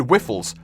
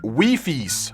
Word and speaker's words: Wifies: But for now, guys, as always, check out, is it Wiffles? Wiffles? Oh, it's pronounced Wifies.